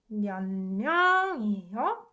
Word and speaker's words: 몇 명이요: It softens to 은. So this one should be pronounced 몇 명이요?